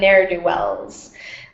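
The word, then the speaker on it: ne'er-do-wells: meritto excellent excellent and very good pronunciation on neru Wells um that apostrophe is showing the missing V in never never do Wells n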